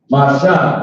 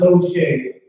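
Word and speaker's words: משה: Masha, and it means Moses, right? The name of Moses in Hebrew. Masha, not Moshe, which the Jewish, I hate to say, call a white man Jewish.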